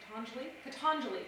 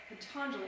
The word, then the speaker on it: Patanjali: During the classical yoga of, and I'm going to say it wrong again, I got it right yesterday, Patanjali, there we go, that's how we say it. Patanjali, I have to say